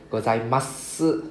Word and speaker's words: ございます: It's the U is the su lah. Yeah, the U is the S. ございます right? It's a S, but we don't pronounce the U, silent U.